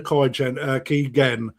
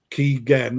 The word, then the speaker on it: Kigen: It's actually Keegan Gen as in Kevin Keegan.